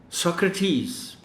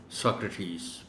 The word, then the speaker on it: Socrates: pronunciations at appropriate timings, and drill them in pronouncing the words correctly. The following words would require special attention in terms of articulation. Socrates, ये इस लफ्ज़ का सही तलफ़्फ़ुज़ है, Socrates.